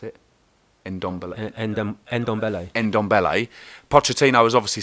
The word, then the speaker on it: Ndombele: How do you pronounce it? Ndombele.